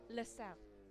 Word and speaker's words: Lusail: How's it pronounced? LaSalle. Right, LaSalle.